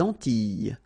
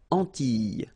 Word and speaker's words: Antilles: So here it's quite interesting because, well, you've got this E and then double L, S. Okay? So final S and E, really you don't pronounce them. So you get this E sound. Antilles. Okay?